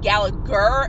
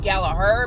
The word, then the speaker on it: Gallagher: People kept calling him Gallagher instead of Gallagher.